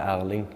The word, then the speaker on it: Erling: Erling Haaland. Simple as Better, that. yeah. Erling Haaland. Erling Haaland. I have to think because it's a bit different in Norwegian and English.